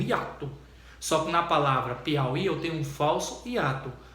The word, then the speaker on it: Piauí: Só que na palavra Piauí eu tenho um falso hiato. Porque o que acontece? Ali é uma vogal que é pronunciada, mas não escrita, por isso que é falso hiato.